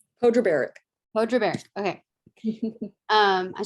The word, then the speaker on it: Podrebarac: barack how do you say your last name pedro barrick mojo bear okay um i tried um from